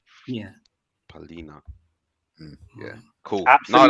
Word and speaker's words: Palhinha: I tell you how to spell it, Don P. Yeah. PALHINHA. Yeah. Oh, okay. Oh, Palina. Yeah. Palina.